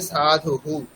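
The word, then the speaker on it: সাধুঃ: কিন্তু এখানে সাধু হু। এখানে যেহেতু উকার আছে শেষে সেইজন্য হু বলতে হবে।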